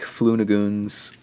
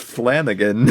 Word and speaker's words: Flanagan: 16th we watched mike flunagoon's uh hush why can't you just say his name is flanagan it's mike flanagan yes because mike flunagoon